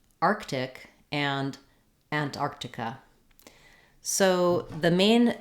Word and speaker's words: Arctic: And then because we do have that K and that T together in the word Arctic, we do say this T sound as a T, Arctic. It doesn't have to have a lot of release of air, not Arctic with a strong T, but you also don't